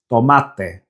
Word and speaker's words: tomate: But now try saying tomato in Spanish, which is tomate, tomate. Put your hand to your mouth and ensure that no air comes out as you say it.